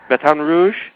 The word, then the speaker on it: Baton Rouge: you are you're in B Rouge did I pronounce that right yeah Baton Rouge batan Rouge that's how they say It Baton Rouge batan